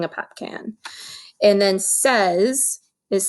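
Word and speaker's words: seize: cans drinking drinking a pop can and then says is spelled like this s ee i ee and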